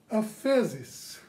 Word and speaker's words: aphesis: the word you have to give my greek pronunciation here a fezis a-p-h-e-s-i-s now if you look into this word